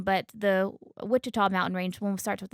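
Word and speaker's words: Ouachita: W, and then the Wichita, which is spelled Ouchita. They're both pronounced the same, but the Wichita mountain range, one starts with an O, is where we were this last weekend.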